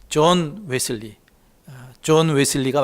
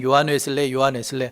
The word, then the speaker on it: 존 웨슬리: 근데 우리 감리교인이라면 꼭 기억해야 될 분이 요한 웨슬리, 존 웨슬리가 맞습니다. 옛날에는 요한 웨슬레 성경대로 했는데 그쪽 발음대로 하면 존 웨슬리입니다.